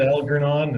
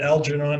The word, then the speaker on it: Algernon: So some call it Algernon, and it's all good, but Algernon is the correct pronunciation, and that's the background.